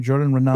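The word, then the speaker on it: Jordan Raanan: Jordan Renan?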